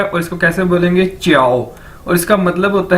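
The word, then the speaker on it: 叫: आपने पहले भी देखा है कि जे को हम चे के तौर पर इसको प्रोनाउंस करते हैं, यानी जे चाइनीज के अंदर चे के तौर पर प्रोनाउंस किया जाता है, बोला जाता है।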